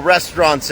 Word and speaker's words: restaurant: boogie boards there's little restaurants everywhere ซึ่ง คำ ว่า เอ่อ ร้าน อาหาร นะ ครับ ไม่ ใช่ restลอง นะ ครับ ผม นะ ฮะ ต้อง ออก เสียง ว่า restaurant 2 พยา นะ ครับ Restaurant ลอง พูด